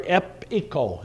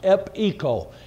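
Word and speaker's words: epecho: and then the word echo e-c-h-o i'm sorry epico is the way it's pronounced ep eco and it has the word echo in it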